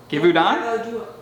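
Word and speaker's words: Givaudan: a fragrance house give oh how do we pronounce this giveaway give honda g-i-v-a-u-d-a-m well done give you dawn also for the drake i would so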